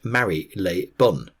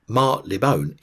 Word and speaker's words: Marylebone: eventually became Mar Leone the received pronunciation is Mari Lebon however Mar Leone is commonly used the manner of tyon